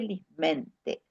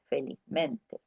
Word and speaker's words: felizmente: Ese término expresaba adecuadamente lo que sentía, pero se sintió desconcertado cuando un familiar le corrigió: «No se dice lismente, se dice felizmente».